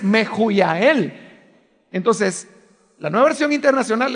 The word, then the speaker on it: Mehujael: En esa época, en el español, la H sonaba como J. Entonces resulta que si uno lee Mehujael, usted no está pronunciando el nombre real que estas personas tenían, porque la pronunciación correcta es Mehujael.